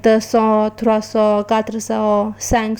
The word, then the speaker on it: cent: 100 is pronounced as saw and is written as CANT.